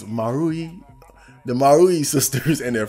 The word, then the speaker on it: Marui: I still barely know how to pronounce it. But it's you know, a series of mini stories pertaining to the lives of the Marui sisters. The Marui. No, it's Marui.